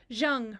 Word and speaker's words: Zhang: to say her name Zhang rhymes with young I'm sorry I'm a